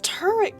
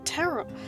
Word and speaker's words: Tarot: No, it's turret cards, isn't it? Tarot. Oh my god, I'm pronouncing it wrong.